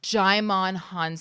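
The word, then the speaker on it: Djimon Hounsou: How do you pronounce his name? Jaimon Hansu. Jaimon Hansu.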